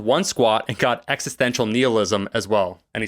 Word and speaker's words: nihilism: the way i pronounce nihilism no it is and i just want to point out that while everyone says it nihilism the root of that word is latin and it doesn't heal so you know what y'all